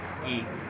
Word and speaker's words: Guy: Guy. So you're doing this out of love English for your... pronunciation is Guy, the same word as Guy in French.